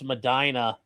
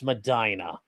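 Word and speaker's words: Medina: So, um, I hate it when the out ofers pronounce Madina the Muslim way. Yes. Yes, it's Madina.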